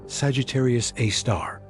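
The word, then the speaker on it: Sagittarius A*: It's called Sagittarius A, asterisk, pronounced Sagittarius A star.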